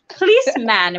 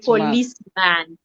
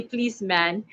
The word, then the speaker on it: policeman: not police fault sorry please man rather not policeman yes yes and the last word exactly please man god do i need